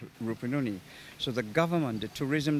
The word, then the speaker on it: Rupununi: I coming down to the Rupununi. I pronounce it right? Yeah, Rupununi.